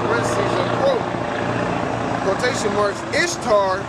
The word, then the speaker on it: Ishtar: It says in parentheses, not parentheses, a quote, quotation marks, Ishtar, which is pronounced Easter, was a day that